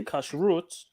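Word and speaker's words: kashrut: on purpose um or the more appropriate way of pronouncing I would say cash root cash root means clean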